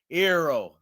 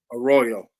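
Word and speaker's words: Arroyo: The New York Jets go after tight end from the University of Miami, Elijah Ro. Did I say it right? A Royal. A Royal.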